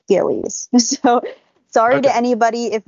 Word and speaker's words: Gilley's: back into the plot I did look up the pronunciation yesterday and I believe it is Gillies so sorry to anybody